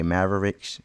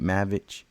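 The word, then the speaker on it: Maravich: Pete Maverick Pete mavit I think I'm saying it right cuz I used to say Maverick it's Pete mavic um I come to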